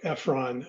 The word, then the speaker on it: Efron: Tip number three um is follow Mark Efron and uh that's spelled E FF R O N.